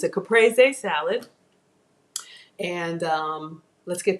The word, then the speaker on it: caprese: which I learned it's caprese in Italian they actually pronounce every syllable so there are no silent E's I know sometimes people say Capri salad but um even